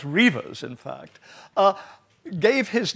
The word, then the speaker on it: Redvers: But anyhow, dear old Sir Redvers Buller, or I believe it's pronounced Reavers, in fact, gave his name to my father, and now my son has that name.